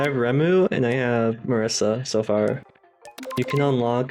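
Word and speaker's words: Marisa: I Marissa that's not I did not pronounce mispronounce Marissa that's like I knew someone named Marissa once just it's Marissa it's it's not very hard sakuya remu remu Shamu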